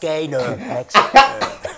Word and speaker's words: Gaynor: It's pronounced Gaynor.